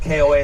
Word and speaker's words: koa: Okay, it's spelled KOA like the campground, right? But it's pronounced koa.